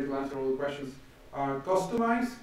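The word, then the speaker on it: Kustomize: Customize, that's how you pronounce customize with a K.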